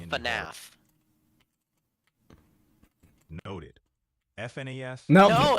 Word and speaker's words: FNAF: at Freddy's no no Five Nights at Freddy's fnf is pretty iconic no it's called FNAF noted FN no it's FNAF got it FNAF